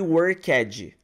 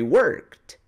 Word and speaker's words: worked: A pronúncia dos verbos regulares no inglês, você não vai pronunciar o E. Você não fala watched, worked. Você simplesmente vai pronunciar a letra D no final de forma bem sutil.